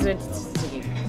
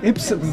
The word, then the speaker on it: Ypsilanti: Actually, if anyone can pronounce the town more directly right now, I'll give them... Yipsilanti.